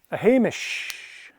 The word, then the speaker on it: Hamish: night there we are Hamish yeah there's kind of a sh sound at the end now a Hamish this